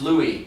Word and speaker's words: Louise: well it's already done it spelled Louise but it's pronounced Louie at least that's what